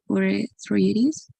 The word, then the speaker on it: urethritis: Urethritis. Urethritis. Remember the suffix idis, right?